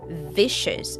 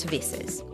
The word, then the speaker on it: vicious: Make sure you say vicious with a clear sh sound, not visses.